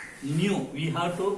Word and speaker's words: nu: Nu, we have to pronounce this as nu, is equal to x by y dy by dx.